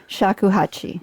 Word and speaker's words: shakuhachi: And the instrument you were using was shakuhachi. Thank you. Saku, I must pronounce it. Shakuhachi.